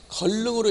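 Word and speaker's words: 건릉: 건능도 똑같아요. 이것을 우리가 읽을 때 걸릉으로 읽어요. 걸릉 그러니까 GEO 일반적으로 걸릉이라고 할 때 GEOLLEUNG 이렇게 해서 걸릉으로 적게 된다는 사실을 기억하겠다.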